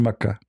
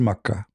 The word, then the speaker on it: Mecca: God, and this is Mecca. The same pronunciation. The Yemeni, they use the word, the letter Ka, in their language, it comes sometime as Qa. Mecca, Makkah.